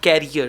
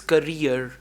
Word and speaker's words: career: the word is not carrier the word is career c-a-r-w-e-r one is Carrier c a double r i e r but this is career so pronunciation present past